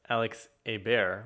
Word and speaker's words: Alex Ebert: by introducing him as alex a bear which would be the french pronunciation and so this conversation